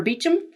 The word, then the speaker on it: Beauchamp: But I call it Alardnish because if the Brits can do Beauchamp for Beecham and take St.